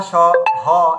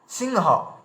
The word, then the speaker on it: সিংহ: আচ্ছা, তারপরে হংস, হংস, এই যে বংশ হংস, তারপরে এই যে দেখুন হ রয়েছে, হয়ের ক্ষেত্রেও দেখুন ওই একই ব্যাপার হচ্ছে, যেমন সিংহ, সিংহ, দেখুন ওই বিন্দি এভাবে চলে এলো।